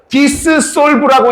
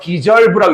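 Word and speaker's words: dissolve: 근데 이거를 또 자기가 읽겠다고 디스솔브라고 읽고 있는 똘파들이 무지하게 많을테니까이 ss가 발음이에요. 디저브라고 있습니다.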